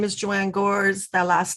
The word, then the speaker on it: Gores: chorus okay thank you my name is joanne gores that last name is spelled g-o-r-e-s and i yes i do have